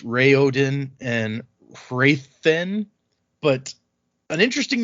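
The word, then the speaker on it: Raoden: So, uh, I'm going to say Raen cuz that's how I say it in my head and even though technically it's Ray Odin and Rathen.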